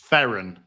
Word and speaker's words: Theron: It's pronounced Theron.